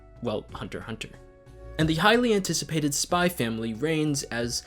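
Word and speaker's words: Spy × Family: And the highly anticipated Spy Family, yes, it is pronounced Spy Family, just how Hunter x Hunter is pronounced, well, Hunter x Hunter. And the highly anticipated Spy Family reigns as not only one of the most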